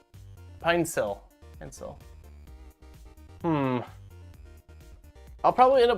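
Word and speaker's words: Pinecil: Pronounced Pinesil. Pinesil.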